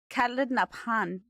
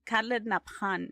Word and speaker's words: Khaled Nabhan: Khaled Nabhan. Khaled Nabhan is. That's how you pronounce it.